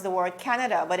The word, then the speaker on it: Canada: to pronounce the word canada but instead of saying canada she wanted so much to sound like barbara that she said kineda it was really such